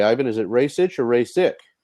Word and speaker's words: Rasic: I'm sorry, Ivan, is it Rasic or Rasic? It's Rasic, but I guess that's difficult to pronounce.